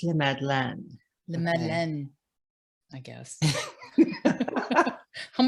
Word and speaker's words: La Madeleine: tears to us i love la madeleine it's pronounced le madeleine le man i guess i'm working on my